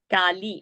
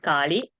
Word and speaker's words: Kali: Kali and not Kali. Lalita and not Lalita.